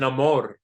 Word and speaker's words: Namor: He The feather pronounces thing it is Namor.